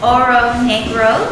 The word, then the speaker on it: Oro Negro: Yes, so it's Oro Negro, if I pronounce it in the English spelling.